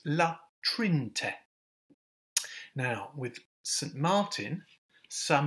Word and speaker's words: La Trinité: So for example, in La Trinte, see I nearly made the mistake there, we don't pronounce the middle E, so it's La Trinte.